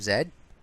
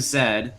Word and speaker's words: Z: the lost city of Zed uh yes that is not Z it's actually pronounced Zed in the believe it's